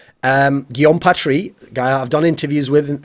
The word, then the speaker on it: Guillaume Patry: It was won by the French-Canadian, that's how you pronounce his name, Guillaume Patry, guy I've done interviews with.